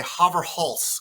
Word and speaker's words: Haverhals: Haverhals? Yeah, that works. If you're in the Netherlands, you might say Haverhals because it means oat's neck in Dutch.